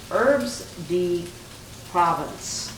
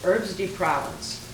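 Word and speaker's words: herbes de Provence: a french it's uh herbs d province that's what i think i said it right herbs de provence and it's a savory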